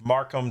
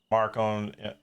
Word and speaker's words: Markham: Sheriff Markham Southwell. So Markham, just like how you spell it, Markham.